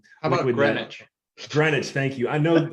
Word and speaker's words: Greenwich: as well as senior positions as Associate General, Greenwich Associates, or Greenwich is probably how you say it, Associates. How about Greenwich?